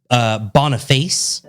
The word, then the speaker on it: Boniface: Boniface. Wow. Now, it looks like Boniface, but it's Italian. And I know that when it's a C alone, it's pronounced ch. Right. So Boniface.